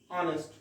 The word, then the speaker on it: honest: Here you are getting H, but pronunciation is honest.